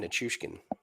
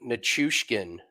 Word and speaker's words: Nichushkin: that that's his name nichushkin Andrew McGinnis was telling me that uh I was like I was like nature skin I was like you have to pause like to say it right and he was he's